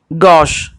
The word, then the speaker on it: gauche: Dexter, sinister, gauche. This is the correct pronunciation of these words.